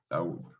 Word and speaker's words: Lahoud: ¿Está bien pronunciado, Gustavo? Lau. Sí, sí, así, perfecto. Lau.